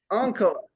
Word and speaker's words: Onkelos: I was about to ask if you could pronounce Onkelos. Uncles. Onkelos, there you go.